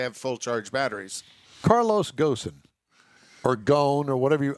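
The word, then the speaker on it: Ghosn: his hidey hole and his last name is spelled g-h-o-s-n i call it ghosan if i'm wrong i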